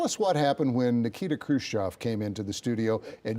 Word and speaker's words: Khrushchev: And they sent pronunciation Khrushchev. Everybody said Khrushchev, but it was actually Khrushchev.